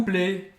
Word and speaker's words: plaît: plaît. S'il vous plaît. S'il vous plaît. Et c'est AI, com acento circunflexo. Plaît é a mesma pronúncia. Plaît. S'il vous plaît. Você não vai pronunciar o T no final.